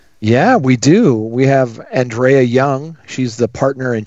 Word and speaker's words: Andrea: Am I pronouncing that right? Is it Andrea or? It's Andrea.